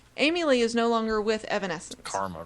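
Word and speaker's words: Evanescence: is it evanesence it if you say it correctly yes it is Evan Essence maybe not Evan Evan Essence effervescent it's basically what it sounds like um that is actually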